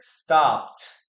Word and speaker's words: stopped: And the pronunciation is with a T here. Stopped.